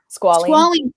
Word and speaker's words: squalene: Squalene. Okay, so I have this, and I am so sorry. My best friend sells these products, but I looked at the ingredients. They're all natural. Well, squalene was one of the ingredients, and I didn't